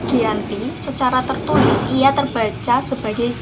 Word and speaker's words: Giyanti: Dalam pelafalan Belanda, ia tersebut sebagai Giyanti.